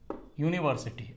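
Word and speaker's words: university: आया है, वावेल है, लेकिन इसका प्रोनाउंसिएशन यू, ये इसका प्रोनाउंसिएशन वाई यू है एक्चुअली।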